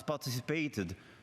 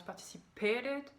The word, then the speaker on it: participated: Pour le mot participer, il met le stress sur la quatrième syllabe. Il prononce participated, mais en fait on met le stress sur le T sur la deuxième syllabe.